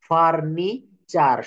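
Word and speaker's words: furniture: এর পরে ইউ আছে অর্থাৎ শব্দে টি থাকলে টি এর পর ইউ থাকলে টি এর উচ্চারণ হবে চ এর মতো টি এর উচ্চারণ কিসের মত হবে বলেন তো চ এর মত যেমন লেকচার সেঞ্চুরি ফার্নিচার সব জায়গায় চ আসতেছে আপনি নিজে নিজে একটু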